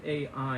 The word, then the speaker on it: Ai: It's spelled A-I in English, but it's pronounced Ai.